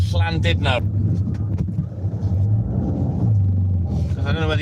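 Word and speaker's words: Llandudno: Schlisvine sounds like a th and the letter U is pronounced as an I. So Schlan did no but everyone calls it landed no that isn't aware.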